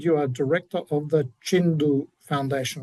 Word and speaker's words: Tjindu: So, uh Nadok week and I said you are director of the Chindu Foundation. I'm not sure if I pronounced that correctly. That's correct. Jindu Jindu.